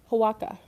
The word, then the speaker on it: Oaxaca: Oaxaca? Oh, Latina. Yeah, Oaxaca.